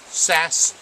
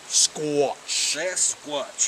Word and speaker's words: Sasquatch: Please, Sasquatch. Sasquatch. 2 syllables.